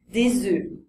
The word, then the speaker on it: œufs: entre singulier et pluriel on va dire un œuf avec un son ouvert des œufs avec un son fermé pareil avec un œil